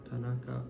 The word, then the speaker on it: Tanaka: Tanaka. Ta-na-ka. It's made up of 3 Like, syllables.